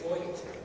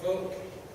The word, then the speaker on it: Vought: It's a long O. I get Voight. I get Vought. I get Vote. There's many different pronunciations, but it's pronounced with a long O.